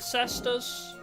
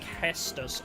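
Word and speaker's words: Cestus: Is it Cesus Saber Slasher? You have been I I would like to see the animation. I might do an Exodia run in this game at some point. Oh, it's pronounced Kestus.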